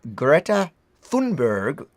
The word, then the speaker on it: Greta Thunberg: Now, once we'd finished, this was the images of Greta Thunberg, as we've now learned is how you pronounce it.